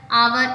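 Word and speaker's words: hour: Words होते हैं इसमें जो एच होता है वो साइलेंट होता है। ठीक है, तो इसमें भी कुछ ना कुछ एग्जाम्पल आ सकते हैं, जैसे the train is एन आवर late.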